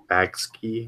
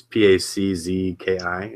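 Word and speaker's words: pączki: I don't know how to pronounce it, the Bagski or whatever. It's PACZKI.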